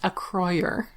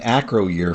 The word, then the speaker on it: Acroyer: It's pronounced Acroyer. Really? It is? Well, I've been saying acro year for like 30 years.